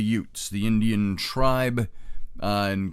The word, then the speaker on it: Utes: about the Utes and it was not UTS as in you know like My Cousin Vinny you know they were uh they were disenfranchised UTS no not y u t HS pronounced like you're from the Jersey Shore but the Utes the Indian Tri uh